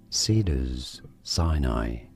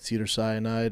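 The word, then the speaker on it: Cedars-Sinai: let's see we are looking at how to pronounce the name of this Hospital in Los Angeles California how do you say it Cedar Sinai Cedar siai oh my God he got it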